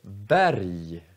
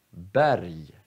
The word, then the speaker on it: berg: Om g kommer sist i ordet, då uttalar vi också som j. Så, vi säger berg, berg, eller Göteborg, eller sorg. Så är g sist, då uttalar vi som j.